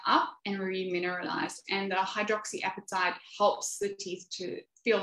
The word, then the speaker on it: hydroxyapatite: So hydroxyapatite is how you pronounce that word, is a natural occurring substance